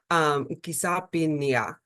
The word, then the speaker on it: Kisapniaq: So it's pronounced Kisapniaq, which is dawn.